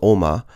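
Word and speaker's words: 鏖魔: And the second one is for demon, so it's pronounced Oma.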